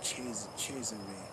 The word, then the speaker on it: Cesare: You know, so Caesar Borgia, also called Cesare Borgia. You know what I'm saying? Because they pronounce Caesar different.